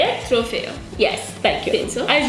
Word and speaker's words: trofeo: Trofeo? Is that how you say it? Trofeo.